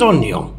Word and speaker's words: oignon: Deux points d'explication, des carottes, des tomates et des oignons.